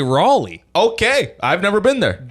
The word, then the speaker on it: Raleigh: saying words wrong oh it's not R never r r you lived in America the first two letters r a why is it so obscene that I pronounce it Ray because you lived in America and not in R they actually say Raley okay I've never been